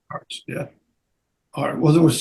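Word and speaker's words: Arzt: you paid Dr Leslie was it Arts is that how you pronounce it Arts yeah all well there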